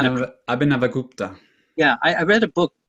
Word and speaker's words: Abhinavagupta: I think Abhigabha Gupta, how do you pronounce that, Marco? You know how to. Abhinavagupta.